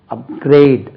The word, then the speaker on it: upgrade: அப்கிரேட் second syllable.